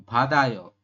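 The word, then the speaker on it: 받아요: Kalau ini bat tetap ditulis bat. Ya. Ini bat kemudian akhirannya ayo. Seperti ini. Badayo. Dibacanya apa? Dibacanya badayo.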